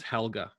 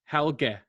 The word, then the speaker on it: Helge: So we pronounce it Helga as if it's Helga, which I think is more of a feminine name, Helga. Yeah. So apparently, I might even get this pronunciation wrong, but the way that they spelt it out for me, I think it's meant to be Helge.